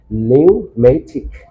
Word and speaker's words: pneumatic: But the sounds of the letter must be silent in this word. So we'll have to do the correct pronunciation according to the rules of, like as the style of British and American. We'll have to pronounce this word pneumatic.